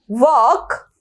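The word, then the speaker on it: walk: तो वॉक के अंदर क्या साइलेंट है, वॉक के अंदर एल साइलेंट है, जैसे कि टॉक के अंदर एल साइलेंट है, इसी तरीके से यहां पर भी वॉक के अंदर एल साइलेंट है।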